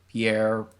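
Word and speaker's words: Pierrot: could see how uh the studio pierre if that's how you pronounce it they've evolved yeah piero like it's like clown in french yeah you get to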